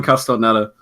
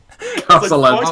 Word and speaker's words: Castellaneta: We're getting Dan Castellaneta.